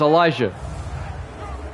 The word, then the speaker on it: Elijah: It's Elijah. It's a biblical name. And now Zach Jones for the extra point. Kick is up. And it's good. Yeah, Elijah. It's how it's spelled in the Bible.